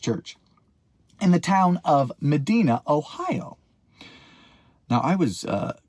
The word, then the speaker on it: Medina: Granger United Methodist Church in the town of Medina, Ohio. Now, I was uh corrected on a live. The pronunciation of this town is in fact Madina like the old song Dina that Bing Crosby